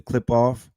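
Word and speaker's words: Qliphoth: manipulation, you're touching the clifoth and if you descend intentionally without people potato tomato tomato, some people pronounce it the clip off, right? He's pronouncing it the Eurasian way.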